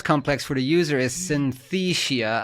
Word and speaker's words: Synthesia: for the user is Synthesia. I always struggle pronouncing this with the 'th' there.